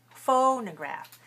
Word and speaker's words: phonograph: but clear right clear so we don't say phone we say ah phonograph and it rhymes with photograph and take your photograph